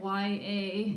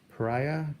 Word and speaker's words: Priya: Periya. Y-A, yeah. Pariah? No, that would be weird. That's how I was pronouncing it at first. And I was Yeah. like, that's a different word.